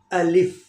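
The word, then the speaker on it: الف: अलिफ is correct, अलिफ is correct, अलिफ इज नॉट करेक्ट, अलिफ, अलिफ इज इनकरेक्ट। कुछ दोस्त इसको पढ़ते हैं अलीफ, अलीफ, अलीफ पढ़ना गलत है, या पढ़ते हैं अल्फ, अल्फ पढ़ना भी गलत है। सही करेक्ट प्रोनाउंसिएशन है इसकी अलिफ, और दूसरा लेटर है ब।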